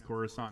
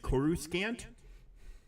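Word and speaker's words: Coruscant: 69 times I mean I didn't know how to pronounce corusant until I heard it in um Phantom Menace I was like Kus scant I mean and don't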